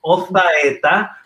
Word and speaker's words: Ozaeta: Y creo que nuestro invitado, quien es Mauricio Ozaeta, ahora lo pronuncio como los españoles, pues el Señor le ha dado este don.